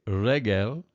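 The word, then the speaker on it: רגל: And then foot or leg, regel. Again, see the segulet, so you have the accent on the first syllable.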